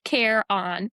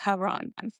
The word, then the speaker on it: Charon: But how is it? Care on. Charon. Okay. See, I was saying Charon.